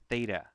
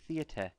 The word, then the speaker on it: theta: it the Greek letter theta. If you were in Mrs. Jones's class, who's British, she would say theata. But I'm not British, but just so you know, that's how it's spelt.